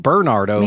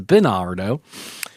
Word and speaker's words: Berardo: Bernardo video berardo video I've been saying Bernardo for for the longest time it's berardo uh berardo is our